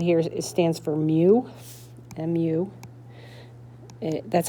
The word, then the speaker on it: mu: So this little symbol right here stands for mu mu. That's how it's pronounced and it looks like that.